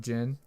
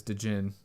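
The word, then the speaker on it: djinn: longest time cuz in Golden Sun they have Jin I thought it was did Jin well of course that's how you would pronounce it in American I know especially if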